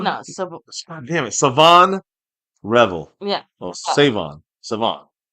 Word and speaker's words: Shavon: Siobhan. No. Damn it. Savon Revel. Yeah. Oh, Savon. Savon. All right. Savan. Savon Rall. Think of it like French with a silent H.